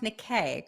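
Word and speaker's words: Niké: they're good people and let everyone know it's pronounced nikay correct exactly it's not a hard name but for some reason I guess it just because it was an accident on the E but it throws people off it's four letters and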